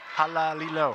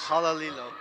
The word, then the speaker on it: Halalilo: Halalilo, 4 syllables. Halalilo.